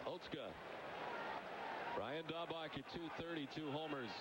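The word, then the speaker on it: Otsuka: It does not appear to be Oska. No, the spelling you would think it would be Osuka. Yeah, but it's Oska. Oatska.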